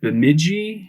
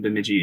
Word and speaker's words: Bemidji: I think the one that comes up the most is, see if I can pronounce this correctly, Bemidji. Oh, Bemidji. Bemidji.